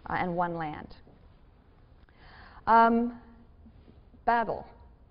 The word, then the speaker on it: Babel: Um Babel Babel pronounced Bavl in Hebrew is Babylon.